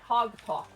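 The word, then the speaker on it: Haag-Tok: Hogalk, which is an Orc country.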